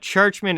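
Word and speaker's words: Czuczman: want to say i've i had no idea you pronounced his name churchman until researching for this video because he played in pittsburgh and he had he has nhl games under his belt and he's a veteran guy i do i was saying his name wrong the entire time so my apologies to kevin churchman for that but churchman is how you say it and um he's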